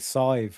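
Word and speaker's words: Sadhbh: I know slangejiva that you use an h for a v sound. Mhm. And then like sive for example like uh s a i d h e b h is cy.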